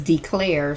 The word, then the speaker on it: DeClaire: love and the main character's name is declare spelled like Claire c-l-a-i-r but uppercase D